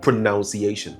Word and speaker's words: pronunciation: But while the verb is pronounce, this the nominal form is not pronunciation. It is pronunciation. You realize there's no O over here. So, the proper pronunciation is pronunciation, not pronunciation.